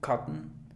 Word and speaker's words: cotton: Esta palabra muchos dirían cotton. Quizás en inglés británico cotton, pero en inglés americano cotton. O sea, pronuncias cut, así, cut, y cierras y haces cotton.